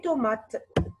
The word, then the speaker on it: tomates: What is the silent letter here? S. Bravo. S here is silent because it's the last letter of the word.